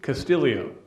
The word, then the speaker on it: Castillo: went with I went with the golfer Ricky Castillo and that is the way you pronounce it apparently Ricky Castillo playing in his